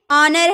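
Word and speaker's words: honour: ओ के पहले अगर एच आए तो वो चुप बैठा रहता है। जैसे ऑनर है ना यहां ओ का पहले हम लोगों ने एच देख लिया।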